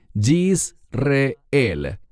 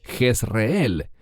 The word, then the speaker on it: Jezreel: Y el Señor le dijo, ponle por nombre, y este es un término muy importante, Yisreel. En español decimos Jezreel.